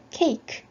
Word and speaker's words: cake: 단어는 cake 했던 거 기억하시죠? 요 뒤에 요 e는 묵음으로 발음이 나지 않습니다.